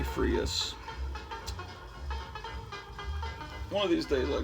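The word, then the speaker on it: Freas: art or kelly freeze i used to pronounce it kelly freeze it's probably frius one of these days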